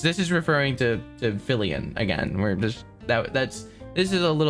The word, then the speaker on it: Fillian: of the the whole fillian situation first of all uh her name is not Vivian her name is not livan uh it's fillian that's your first update it's it's fillian um